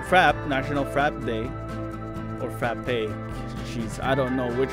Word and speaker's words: frappé: It always confuses me because there's a schwa, which is the E with the little thing. And whenever there's that, you're supposed to pronounce it A.